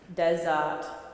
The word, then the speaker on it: desert: first time and then desert the second time Des we're not going to pronounce the r in the middle we don't like RS not in the middle of words and then the T